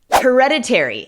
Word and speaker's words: hereditary: Hereditary es hereditario. This sickness is not hereditary. Esta enfermedad no es hereditaria. Hereditary. La sílaba tónica es la segunda, hereditary.